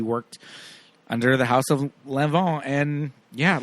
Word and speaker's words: Lanvin: my notes Here Yeah Lanvin but I think it's pronounced lanon they they uh La Roach taught us that on season one of uh legendary MH House of Lanvin but it's pronounced Lon um and the men's